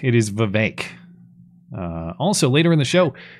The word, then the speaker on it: Vivek: I'm informed that the pronunciation is Vivek. Vivek. Seriously? Yeah. I've been saying this incorrectly this whole time. I thought it was Vivek. It is Vivek.